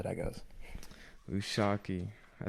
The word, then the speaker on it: Lushaki: Usaki, I said it right.